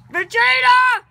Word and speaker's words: Vegeta: Vegeta!